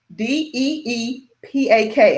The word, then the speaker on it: Deepak: network his name is d-e-e-p-a-k i think that's deepak i think that's how you yes that's how you say his name he's a part of